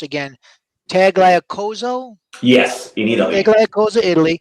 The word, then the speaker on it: Tagliacozzo: You are born in, and I'll probably mispronounce this again, Tagliacozzo? Yes, in Italy. Tagliacozzo, Italy.